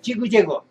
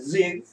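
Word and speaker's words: zigzag: 지그제그 그러잖아요 지그제그 자 지그재그가 실은 정확하 제그 자 왜냐면 아까 지그 초성 확실하게 한 것 아 지그 하면 이음절 걔네도 이음로 듣게 돼 있다고요 근데 실제 음은 초인 처럼 짧게 발음합니다 직 직 근데 잭잭은 아다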